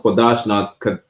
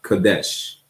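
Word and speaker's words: Kodesh: There is no vowels in the Hebrew, so it's pronounced Kodash, not Kadesh, right?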